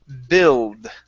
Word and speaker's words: build: Our next word is the word build. Okay, so the U does not make a sound here. It is a short I sound.